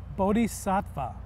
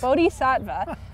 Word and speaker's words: Bodhisattva: Now, real quick, before we go, new shooters in the race, Divining Rod, you've got, pronounce the horse's name. Bodhisattva. He knows how to say it. Bodhisattva.